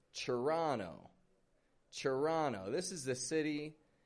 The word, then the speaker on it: Toronto: And I'd like to point out how in this city here, Toronto, the T-O-R is becoming a chur sound. Not a Toronto, but a chur, Toronto.